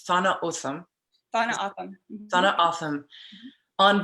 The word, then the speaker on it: Tohono O'odham: I'm saying it right, because I've always said Tohono O'odham, it's Thana Otham.